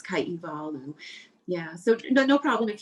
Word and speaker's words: Kaihewalu: the w is the proper way is is pronounced v so we see it as blue but it's kaivalu yeah so no problem if you prefer to